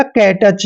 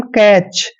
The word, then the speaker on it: catch: और जब भी CH से पहले टी आता है तो टी हमेशा वहां पे साइलेंट होता है और CH का उच्चारण च करेंगे। इस तरह से इसको पढ़ेंगे हम कैच।